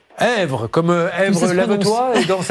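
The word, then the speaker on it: Esvres: Comment ça se prononce? Hèvre-sur-Indre. Èvre, comme Èvre lave-toi et danse avec la vie.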